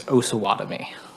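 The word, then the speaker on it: Osawatomie: So the proper pronunciation, my understanding, is Osawatomi.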